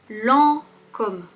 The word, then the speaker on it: Lancôme: La première, c'est Lancôme.